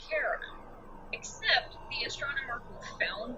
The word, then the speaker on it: Charon: after would be pronounced Charon. Except the astronomer who found the moon, or the planet I mean, he named it after his wife, Sharon. So he says Sharon.